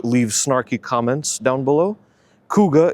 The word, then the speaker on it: Kuga: snarky comments down below, Kuga is spelled k u g a. It's not a cougar, cuz Ford already had a cougar in the 2000s, which was actually a Mercury.